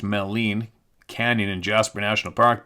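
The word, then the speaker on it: Maligne: fairies little people there is mythology of melan pronounced melen Canyon in Jasper National Park being the location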